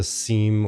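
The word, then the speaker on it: SIEM: centers uh there are there's something called a seam or Sim Everyone likes to call it I'm definitely calling it a seam because it's spelled s m security in information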